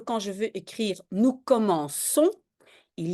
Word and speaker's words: commençons: Si j'ai un G ou un C avant AOU, je prononce K, hein, nous commençons, et si je ne veux pas dire nous commençons, je vais devoir mettre une petite cédille.